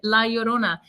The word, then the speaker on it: La Llorona: Yeah, and I have to say that Vanessa pronounces the title of this story perfectly, La Llorona.